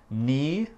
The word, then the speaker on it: knee: Quelques autres mots avec le K muet, juste pour vous. On a knee, le genou, et on a knife, un couteau.